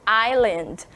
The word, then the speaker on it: island: viram que eu falei hyland eu não falei Island or his Land Porque nessa palavra a gente não pronuncia a letrinha S né curioso é um